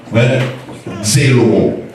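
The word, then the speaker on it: ζηλόω: Définition envieux, il vient du grec zélo, mais zélo, il écrit Z-E-L-O-O, mais il prononce en grec zélo.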